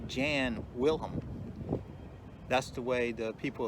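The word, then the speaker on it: Jan Wellem: when i started my tour today i was showing you where the statue of the gentleman on the horse is pronounced jan wilhelm that's the way the people of dusseldorf remember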